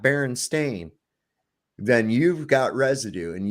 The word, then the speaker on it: Berenstain: born if you have that and it says Berenstein and not Baron stain then you've got residue and you need to